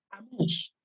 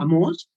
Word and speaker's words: Amós: La palabra Amós es claramente hebreo y así, tal cual, sin modificaciones.